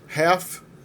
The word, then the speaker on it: half: Half, que é metade, também não tem L.